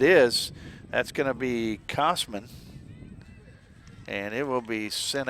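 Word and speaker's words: Kosman: that is Marissa Cosman KO s m an pronounced Cosman however as what I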